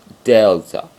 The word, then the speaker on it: delta: would help you, and it's a D sound. D, delta.